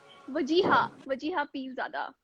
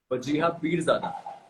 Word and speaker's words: Wajeeha Peerzada: How do I pronounce your name? वजीहा पीरज़ादा. Wajiha Peerzada.